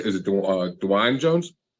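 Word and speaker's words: Dawand Jones: say is it uh Dwayne Jones yes it's DeJuan Jones It's Not Dwayne Jones I had someone you know around me one day call him Dwayne yeah I was thinking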